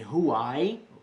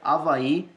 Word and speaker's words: Avaí: beleza pessoal esse h não é pronunciado a menos que você queira americanizar coisa e dizer ruae erro ai que avaí inglês mas a gente está na língua portuguesa então esse h gente não pronuncia avaí é como se você tá passe aqui pronunciar só a vai belezinha a mais letras